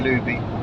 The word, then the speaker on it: l'Uby: Lac de Luby. Rhymes with Scooby.